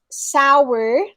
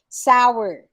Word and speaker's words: sour: right um next um it's sour two syllables not one sour okay so sour worms sour tapes it's not sour tapes it's not sour gummies okay it's sour to two syllables and then parentheses was